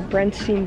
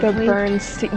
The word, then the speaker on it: Berenstain: The Berenstain. Yes. See, it's everyone remembers Bernstein. It being Stein, not Stain.